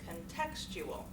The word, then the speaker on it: contextual: have happened I'm so contextual contextual where's the stress one that word on the second syllable contextual third one we've worked